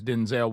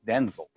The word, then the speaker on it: Denzel: Because my name's not pronounced Denzel. My name's pronounced Denel.